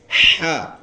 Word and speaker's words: ح: اس کے بعد اگلا ورڈ ہے ہا. اس کا نام ہے ہا. یہ ہا کا لفظ ادا ہوتے ہیں گلے سے.